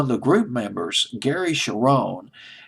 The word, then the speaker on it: Cherone: Although one of the group members, Gary Cherone, Cherone is Cherone. I'll just pronounce it as Cherone.